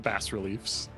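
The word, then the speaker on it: bas-relief: which i also read you can pronounce it bass reliefs it's a legitimate american pronunciation uh on the uh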